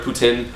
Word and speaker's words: poutine: got a bunch of poutine or putin which is how they pronounce it so and i got